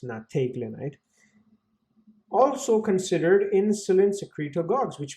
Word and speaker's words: nateglinide: I know it says NEET, but it's actually pronounced nateglinide.